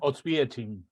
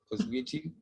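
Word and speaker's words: Oświęcim: Auschwitz no es el nombre de la ciudad es Oswiecim, Enrique, ¿cómo se pronuncia? Oswiecim. Oswiecim.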